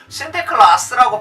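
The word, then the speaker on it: Sinterklaas: 어떻게 바뀌게끔 되어지냐면 이 네덜란드 사람들은 이 산크토스 니콜라스를, 이 라틴어의 이름을 뭐라고 자기들 네덜란드식으로 발음했느냐면은 신테클라스라고 발음을 한 거예요.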